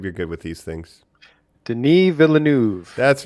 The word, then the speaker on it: Denis Villeneuve: attempts that did happen david lynch and then pronounce his name jacob you're good with these things denis villeneuve that's right that that that dune name yeah